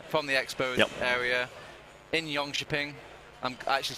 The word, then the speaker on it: Jönköping: Anyway, we're live from the Elmia Arena, from the Expo area in Jönköping.